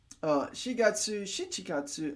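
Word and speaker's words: 七月: However, you need to pay attention to April and July and September, which are pronounced shigatsu. Shigatsu, shichikatsu, and gatsu. Okay, so we're using the other reading for shi and chichi for 4 and 7. And then instead of Q, it becomes Ku gatsu.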